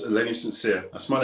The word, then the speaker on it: St. Cyr: love it because it's it's spelled s-t-c-y-r two separate words but it reads sincere because you're a sincere guy it's actually pronouncing the frame frankly in French we're not in France we're in the UK here so it's sincere I mean the states it's the same sincere gotcha okay on my